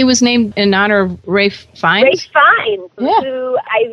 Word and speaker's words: Rafe: Now, there was a special dog in your life, and his name is spelled Ralph, but you pronounce it differently. It's pronounced Rafe.